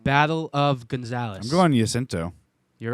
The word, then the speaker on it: San Jacinto: I'm going Jacinto. You're right. Yeah, that's what I got. Sorry, I should have said Jacinto. J is silent. Is that Jacinto.